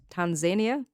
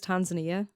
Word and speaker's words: Tanzania: In fact, a scholar writing about Tanzania, so I would always pronounce this as Tanzania. I work with people from Kenya and they pronounce it as Tanzania, and they reckon that that's the way it's supposed to be pronounced. Okay. So take it up with the Kenyans. Because I said Tanzania and they're like, no, it's Tanzania.